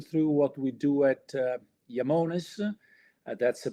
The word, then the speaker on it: Iamones: So today I'll take you through what we do at Yamones. That's the pronunciation of the company, and I'll explain you the roots.